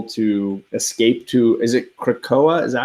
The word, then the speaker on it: Krakoa: to allow people to escape to, is it Krakoa?